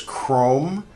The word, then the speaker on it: chrome: Now, in English, you might notice there's chrome. So, there's uh this ch is a c.